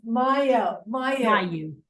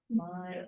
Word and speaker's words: Mayo: It's Mayo. Bayou. Rhymes with Bayou. Mayo.